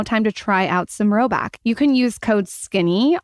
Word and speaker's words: Rhoback: If you haven't already, it's now time to try out some Roback.